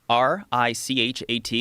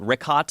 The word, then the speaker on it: Richat: Yeah, in the first couple, I just want to say it's Richat. I used to call it Ricot. I was mispronouncing it.